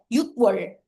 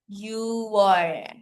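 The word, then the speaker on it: 유월: Instead of using yuk, we use you. Okay? Take note na lang po kasi mahirap siya i-pronounce eh. Yukwar. Parang, so ginawa na lang, you were. You were.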